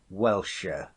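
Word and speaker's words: Wiltshire: do for you Mr wilcher I says though are most be called welsher but Wilshire is the way it's spelled if the people on the beach could only get their tongues about it and what do I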